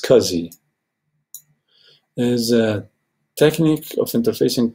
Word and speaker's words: SCSI: and ask us a small computer system interface is pronounced Kazi there's a technique of